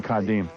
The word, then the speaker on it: Kadeem: It's supposed to be Kadeem.